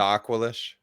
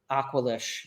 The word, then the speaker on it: Aqualish: How's that name pronounced again? The Aqualish. Aqualish.